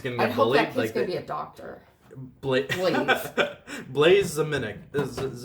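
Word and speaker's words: Blaise: good name like but depends how you spell it like if it's b l a i s e i'm on board like because it's it's it's kind of french i would have gone like blaze like bla city that one's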